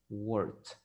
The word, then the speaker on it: worked: Work termina con una K, un sonido de K. Entonces la ed se va a pronunciar como una T. Worked.